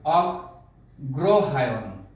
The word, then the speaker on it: অগ্রহায়ণ: অভিভাবকদের জন্য এটির উচ্চারণটি হবে, যেহেতু গয়ের অফলা আছে, এখানে বাড়তি একটি গ আসবে, অগ্রহায়ণ।